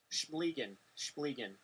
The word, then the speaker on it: Schmiligan: Schmiligan. That's what the pronunciation guide says.